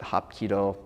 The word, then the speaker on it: Hapkido: of iido and and they are actually written exactly the same way in Korean you pronounce it hopo in Japanese iido they share a lot